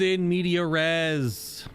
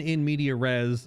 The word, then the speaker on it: in media res: There's in media resz plus three shields on battle start, but max health is hald. I have heard about in media res. You don't pronounce the S. The S is silent.